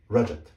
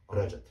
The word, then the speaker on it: Rajat: Ra, j, j, t, Rajat. So this name is correctly pronounced Rajat.